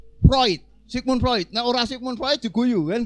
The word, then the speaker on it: Freud: tulisan Sigmund Freud Gan tulisannya Sigmund Freud itu bacanya harus Sigmund proid Sigmund proyek Naurah Sigmund